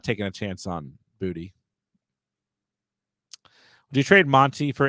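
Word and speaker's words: Boutte: been calling him kesan bout or where that came from because it is actually literally pronounced booty so that made me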